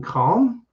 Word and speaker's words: calm: Don't you pronounce the L in calm? Sometimes. Calm down. Calm down. But it's very light. It's so light for this word. Calm, not like calm down. It's not that strong.